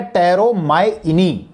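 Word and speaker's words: Pteromyini: से स्टार्ट होता है, लेकिन पी साइलेंट है, इसीलिए इसको कहा जाता है टेरोमाइनी।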